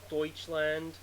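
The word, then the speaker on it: Deutschland: which is s for Deutsch land which is the German word for Germany I don't speak German but I don't know the pronunciation of deuts land EU is actually the same thing as oi I know that much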